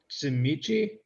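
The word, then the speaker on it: Tzimisce: Oh, I guess just what he thought about Miyazaki being Tsimichi. That's how it's pronounced, right?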